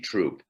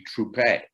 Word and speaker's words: Troupe: played in mexico so he added an e to the family name while playing there to accommodate the spanish pronunciation so it would be troupe while serving in the